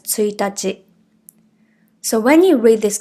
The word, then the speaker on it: 一日: If you have already learned the dates in Japanese, you know the first date of the month is spelled the same but it’s read as ついたち.